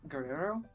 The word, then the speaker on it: Guerrero: Is that Guerrero? Is that how you pronounce that? Guerrero.